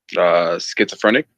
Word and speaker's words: schizophrenic: Schizophrenic.